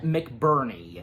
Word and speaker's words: McBurney: Knock, being played by Simon McBurney. Yeah, that's his name. That is how his last name's pronounced, yeah.